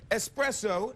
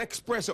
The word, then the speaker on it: espresso: go ahead go ahead it's espresso not expresso i've always said espresso